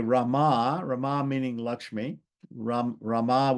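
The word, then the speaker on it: रमा: So it says here Rama Rama meaning Laxmi Ram Rama with a long a right is eternally is eternally untouched by sorrow while others all others are touched by sorrow.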